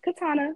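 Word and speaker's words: Katiana: c a r m o n and it's Katana my ey is silent so and again follow the link entertainment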